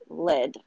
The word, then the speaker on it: Lod: But yeah, that holy blessed oil was from Lydd, LOD. It's pronounced Lydd for me.